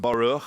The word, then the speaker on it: Baruch: And yes, my name is Baruch or Baroo. It's pronounced Baroo. I believe in Hebrew, but I'm not Jewish.